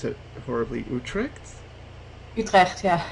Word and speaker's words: Utrecht: So, how long was your sorry, I'm gonna pronounce it horribly. Utrecht? Utrecht, yeah.